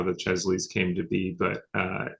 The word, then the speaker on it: Chesley: fantasy art kind of um award what's the Chelsea award so uh Chesley um oh Chesley sorry yeah which is named